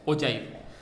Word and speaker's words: ogive: So it is generally pronounced as ogive, written as ogive, but pronounced as ogive.